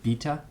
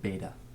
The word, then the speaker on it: beta: might also use beta I think some people pronounce it Vita I call it beta so we've got alpha